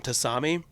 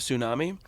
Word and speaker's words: tsunami: of the dudes that pronounced it um tasami instead of tsunami oh so it was